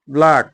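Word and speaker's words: black: এর উচ্চারণ হবে না সি এর পরে যদি কে থাকে তাহলে সি এর উচ্চারণ হবে না। এক নম্বর লিখলাম আমি ব্লাক।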